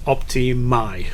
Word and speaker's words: Optimæ: letter as well so uh so the correct pronunciation is is optimi optimi you know it was very funny when